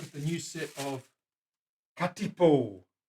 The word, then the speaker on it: katipo: have a look at the new set of katipo spell it for me Willie K a t i